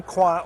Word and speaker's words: Coin: Well, I guess Julie Kwa, or Julie Coyne, as her name is spelled in Anglo, is coin of the realm these days at the U.S.